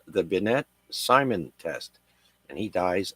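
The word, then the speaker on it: Binet: age of 79 next uh we've got Alfred benette that's spelled b i NE t benette uh born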